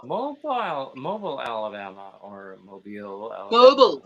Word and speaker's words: Mobile: and surely he's from mobile wow mobile mobile alabama or mobile mobile that's right mobile i remember they say it like that mobile yeah yeah not mobile not at all yes i mean yeah